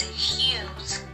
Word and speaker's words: Hughes: is huge news okay what's that pronunciation number one is hughes first news you said what did you